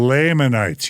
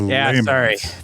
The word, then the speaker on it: Lamanites: The Lamanites. You said it wrong. The Lamanites.